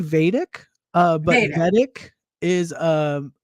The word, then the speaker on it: Vedic: it's it's it's okay wait vadic am I saying it right yeah vadic yeah okay I got it I got it vadic no one's going to think any different if you say vtic so um yeah other